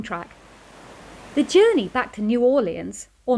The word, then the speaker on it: New Orleans: around the jogging track the journey back to New Orleans or New Orleans as the locals pronounce it was a nice smooth one and